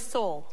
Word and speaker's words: Seoul: What is Seoul? Seoul is right. That's a one-syllable city.